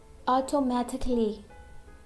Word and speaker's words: automatically: We use silent letter A when it comes before LLY. For example, automatically.